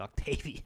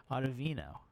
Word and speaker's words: Ottavino: Ottavino. And I think I pronounced him like Octavian before. Ottavino.